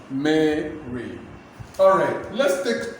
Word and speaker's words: Mary: Mary, Mary, pronounce it, let me hear you. Mary, Mary, Mary, Mary, Mary. Of course, make the A sound, then read short E sound, Mary.